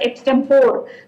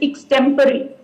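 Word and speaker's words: extempore: o r e and many of us pronounce it as x stem 4 but actually it is x temporary so these are certain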